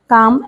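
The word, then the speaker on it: calm: शांति से काम तो सी ए एम सी ए एल एम काम एल साइलेंट है।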